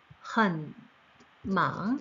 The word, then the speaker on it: 很忙: 자, 성조가 삼성, 삼성이니까요. 워어 이성으로 很忙, 네, 我很忙, 네, 그래서 나는 아주 바빠라고 이렇게 대답해 주시면 됩니다.